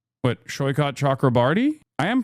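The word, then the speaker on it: Saikat Chakrabarti: You are pronouncing his name correctly. Yeah, I am. It's Shoykat, isn't it? Yeah, it's Shoykat Chakrabarty.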